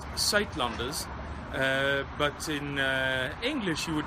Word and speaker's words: Suidlanders: It's pronounced Suidlanders, but in English you would probably pronounce it something like Suidlanders, and this is how you spell it.